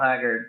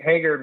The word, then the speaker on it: Haggard: You pronounce it Haggard, which is like how David Allan Coe kind of pronounces him in his song "You Never Even Called Me by My Name."